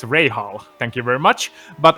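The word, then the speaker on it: Rahal: to not pronounce as i pronounced rahul wrong it's ray hall thank you very much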